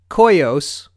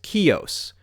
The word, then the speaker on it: Coeus: the name and apparently there is a Greek god that is pronounced coyos according to Google and there is also a Greek name that is often pronounced kios and again that's according